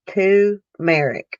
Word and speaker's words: turmeric: it um carolina girl says it's pronounced two marrick tumeric never heard of it girl